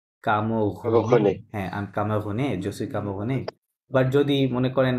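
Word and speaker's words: camerounaise: হ্যাঁ, আই এম কামোগুনে, জসুই কামোগুনে। বাট যদি মনে করেন মাদাম স্নিগ্ধা, উনি বলে যে আই এম ক্যামেরুনিয়ান, ওনাকে বলতে হবে জসুই কামোগুনেজ, কি হবে?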